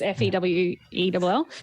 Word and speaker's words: Fewell: It's Fewell.